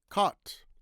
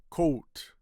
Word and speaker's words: caught: Caught. Caught. The past tense of uh past tense of catch. Now some people say coat. But if you say coat, it sounds like coat like a coat.